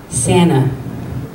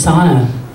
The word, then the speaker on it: Sana: Santa, which sounds a lot like Santa Claus. I was like, her name is Sana. No, it's Santa. No, it's Sana. I promise you, it's Sana. It's Santa.